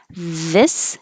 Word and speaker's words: this: singular singular plural plural this has the vowel i the tongue is a little lower if your tongue's too high it'll sound like these 50 this 51 these